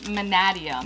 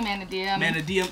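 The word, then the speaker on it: Mannadium: it in the comments so the Konami officials videos say manadium manadium the people say Mana DM people say like Mana damn I I say manadium yeah I just I'm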